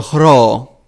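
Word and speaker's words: ρ: And the next one is ro or hro. It is the heavy breath before the R sound. And this is why the ro is aspirated always at the beginning of words.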